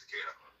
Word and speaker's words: Takeda: Like I can't remember how to pronounce his name. Takeda. I'm sorry, it's Takeda.